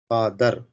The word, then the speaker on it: father: Father. Okay. Yes, sir. Generally, we pronounce this also father. Okay. Mother. Sister. Okay. But we should not pronounce this R.